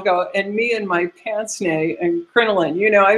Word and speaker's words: pince-nez: one for pince-nez, which is, it looks like pince-nez when you see it, but it is pronounced pince-nez because it's French.